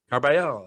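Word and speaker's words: Carbajal: Carbayal. All right, Carbayal.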